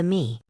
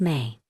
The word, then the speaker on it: me: The concept is called the mei, pronounced may, not me as in me, myself and I may. Like the month, like the word you say when someone asks if you want more dessert.